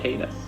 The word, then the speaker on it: Paytas: Uh-oh, Mater kills Trisha Paytas.